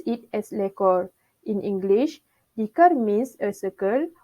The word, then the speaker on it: lekor: card but when spoken in taranganu accent we pronounce it as lekker in english the card means a circle or